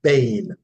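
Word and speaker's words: בן: as b e n and it is pronounced Bane Bane Bane right and it means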